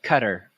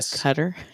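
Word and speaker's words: Qatar: it was in uh cutter or qar right cutter yeah it I took a middle east class and that's actually how it's pronounced yeah didn't that suck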